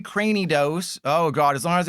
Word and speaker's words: Cranidos: And again, I've said this before, that is how you pronounce it, because it's like cranium. It's not Cranidos like a granny. It's Cranidos like a cranium.